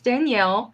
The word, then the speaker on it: Danielle: or just the uh it's Danielle you got that part right just the E is silent yeah I guess I